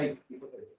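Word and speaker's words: oesophagus: नीचे आएगा, अब आएगा इसोफेगस, ठीक है? एंड डालो। नेक्स्ट थर्ड लिखना इसोफेगस, ओ साइलेंट है ना इसमें भी, ओ साइलेंट, क्या बनेंगे अपन इसको? इसोफेगस।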